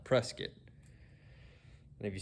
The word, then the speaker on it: Prescott: up in south arkansas in a place called prescott prescott spelled just like prescott arizona but it's pronounced prescott and if you say it wrong we know